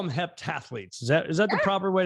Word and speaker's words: heptathlete: Well, you are I guess they call them heptathletes.